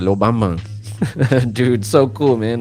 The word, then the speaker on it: Los Van Van: for the lo bamban, also known as los van van. You know, if you go to fucking, but in Cuba they pronounce it lo bamban.